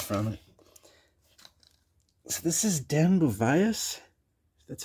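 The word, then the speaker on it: Den Beauvais: So this is Dan Bovias. That's how you pronounce his name.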